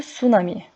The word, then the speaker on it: tsunami: içmeyin Ateş yakmayın tsunami tsunami okunuşu sunami Japoncada Liman dalgası anlamına